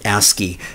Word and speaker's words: ASCII: Now, computers use something called ASCII, which is pronounced ASCII.